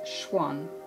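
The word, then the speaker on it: xuan: paper comes in a roll and is called Schwan that's spelled x u a n but we pronounce prounce it Schwan in this country we usually call it rice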